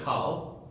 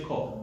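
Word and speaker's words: כל: We don't say kal, we say kol, right?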